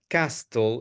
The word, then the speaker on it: castle: very quickly is not Castle is castle castle castle letter letter T is completely silent letter T is complet so you say castle castle okay the other thing